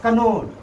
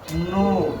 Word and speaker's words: know: इसको बहुत सारे लोग पढ़ता है कनो। कनो कनो लेकिन इसको हम लोग के जब साइलेंट होगा तो इसको हम लोग सिर्फ क्या पढ़ते हैं? नो।